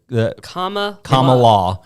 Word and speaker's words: Kamala: It's comma. It's like the comma law.